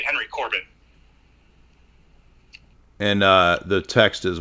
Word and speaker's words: Henry Corbin: interesting okay and his his name is Henry Corban is that c-o-r-b-a-n iron and and it's spelled Henry we would say Henry Corbin and uh the text